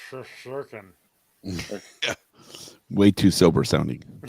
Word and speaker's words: Shesterkin: Pronounced Shesterkin wrong too. It's Shesterkin.